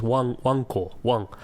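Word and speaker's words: わんこ: You're pronouncing it wrong, though. It's not wank, it's wanko. Like wankosoba. Wankosoba, right?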